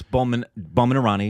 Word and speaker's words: Boman Irani: Ranveer Singh and Boman Irani. Is that how you say his name? Yes, Boman Irani.